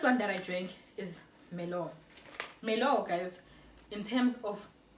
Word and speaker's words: Merlot: I have to now pronounce things and silent double T. Wow, it's levels, baby. The first one that I drank is Merlot.